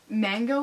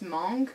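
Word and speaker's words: mangue: when I would pray I pronounced mango in French is monk but I pronounced it mang and people didn't know what I was saying because this was right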